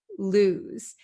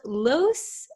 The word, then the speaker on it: lose: you understand the pronunciation lose lose it's not loose and it's not loose okay it's lose okay this s sounds like a z lose so what does